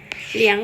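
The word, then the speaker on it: 两: อ่ะ คือ 1 น เหลียง เตี่ยน เหลียง เตี่ยน เหลี่ยง นะ คะ เสียง 3 ติด กับ เสียง 3 เปลี่ยน ตัว หน้า เป็น เสียง 2 อยู่ ตัว เดียว อ่าน ว่า เหลี่ยง เหลี่ยง คือ เลข เลข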